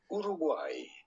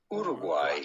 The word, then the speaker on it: Uruguay: we are looking at how to pronounce with a typical spanish pronunciation guay but in spanish uruguay uruguay country in hawaii america